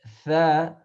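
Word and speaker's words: ث: difference is seen is pronounced regularly like S in English language, but tha, it's pronounced more like the tip of the tongue touching to the edge of top two incisors.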